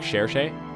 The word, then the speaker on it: Cherche: seal uh yeah sure shea is holding one which by the way it is pronounced like cherche so yeah she's holding